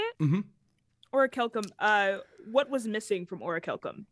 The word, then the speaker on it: orichalcum: Orichalcum, what was missing from orichalcum to make it something that was like active?